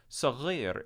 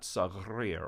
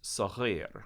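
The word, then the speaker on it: صغير: It doesn't have an extra R in it. It's not sagrir or sarir. It's sagir, which is hard for Americans to pronounce right at the beginning.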